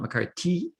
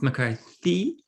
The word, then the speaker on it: McCarthy: want to say McCarthy, because McCarthy is 3 syllables and there's a TH at the end, okay? It's not McCarthy, it's McCarthy, okay?